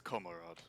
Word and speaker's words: Komarod: different story oh my orc name it's it's komarod if you must know that is an orc